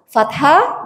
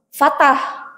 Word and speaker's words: fathah: Fathah bertemu alif. Ibu pami nyebat fathah sanes fatah. Fatah mau potong. Fathah itu terbuka. Terbuka apa? Yang terbuka cara membacanya ketika berharokat fathah berarti harus terbuka mulutnya.